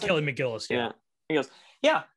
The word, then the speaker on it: McGillis: Is that how you pronounce it? Kelly McGillis, yeah.